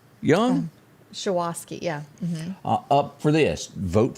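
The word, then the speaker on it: Shuwaski: You've got Michael Guest, and do you pronounce that Shawoski Young? Shawoski, yeah.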